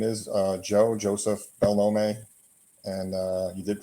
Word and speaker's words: Belnome: show so my name is uh Joe Joseph bellome and uh you did pronounce it correctly and I'm branding Jersey Joe